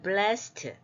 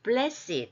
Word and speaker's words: blessed: 이거는 이제 그런데 하도 이 bless가 많이 쓰이다 보니까 원래는 blessed 이렇게 발음하는데 blessed 이렇게 형용사화 되었어요.